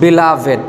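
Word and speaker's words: beloved: দো যদিও দে আর তারা হলো ওয়ান অফ the most বিলাভেড, এটার দুইটি উচ্চারণ হয়েছে, বিলাভড বা বিলাভিড, দুইটি উচ্চারণই শুদ্ধ।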